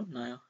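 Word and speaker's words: Naja: फिर इलापीडिये नाजा इस, या नाजा नहीं बोलेंगे, नया बोलेंगे जो भी है, साउंड जे साइलेंट हो जाएगा, इज द साइंटिफिक नेम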